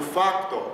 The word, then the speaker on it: de facto: E no facto, eu coloco a sílaba forte no A, mas eu pronuncio o O.